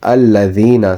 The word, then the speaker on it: الذين: So dal, which is al-ladina, sirat al-ladina. Ladina is a soft sound. Whatever there is dal, it should be pronounced softly.